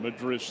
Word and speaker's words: Madris: So he does pronounce it Madris then.